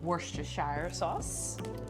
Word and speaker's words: Worcestershire sauce: tomato juice lemon juice horse ratish oh no Worster show sauce oh you said it right Tabasco pinch of